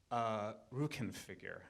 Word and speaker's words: Rückenfigur: Rückenfigur. I never know if I'm pronouncing that right.